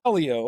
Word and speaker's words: Colliau: Is it Kier? Darn close, Leo. Kio. Okay. I'm always with my name Russ. No one can pronounce it right.